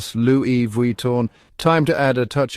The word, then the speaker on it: Louis Vuitton: So next time you're admiring those iconic handbags or luggage, remember, it's Louis Vuitton.